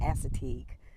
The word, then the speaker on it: Assateague: I am out here at Assateague Island. Some people pronounce it Assateague.